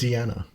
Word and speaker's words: Deanna: We have been saying Miss Schneider's name wrong. It's What is it? Deanna. Oh, okay. So we'll do that. That makes sense. It does. When I saw it, I Diana, was like, of course this makes sense. a I very- should have known better. It's a very English pronunciation of that, yeah.